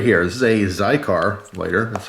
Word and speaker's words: Xikar: As far as her other lighter, the lighter that she loves the most, right here, this is a Xikar lighter, that's how you pronounce that.